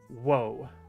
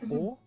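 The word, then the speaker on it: を: A E U O. And this doesn't get pronounced W. It only gets pronounced O.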